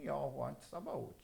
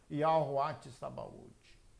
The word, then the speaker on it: Yahweh Sabaote: Alguns irmãos dão pronúncias diferentes para Yud, Re, Vav, Re, tá? Eu dou como Yahweh Sabaote. Perfeito não? Yahweh Sabaote.